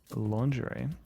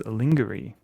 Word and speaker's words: lingerie: My grandma used to pronounce uh lingerie as lingery.